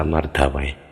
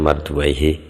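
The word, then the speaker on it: مردويه: Saya seringnya baca Mardawi harokate di sini bacanya marduaihi sopo Imam Ibnu Marduaih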